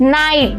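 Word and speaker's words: knight: हम silent pronounce करेंगे अगर के के बाद एन वर्ड आ रहा है तो जैसे इसको प्रोनाउंस करेंगे नो नॉक नाइफ नाइट जो के के साउंड है वो साइलेंट हो जाएंगे और बाकी को नॉर्मली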